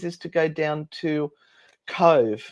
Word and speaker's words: Cobh: We're looking at one of the plans is to go down to Cove. Now that's spelled COBH, and that has a strong